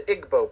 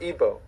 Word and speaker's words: Igbo: Another area in Africa, you have uh something big happening is in Nigeria, you have the Igbo people or Ibo, pronounced either way.